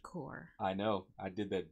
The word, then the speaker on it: Korg: welcome to the Korg the court it's pronounced cor I know I did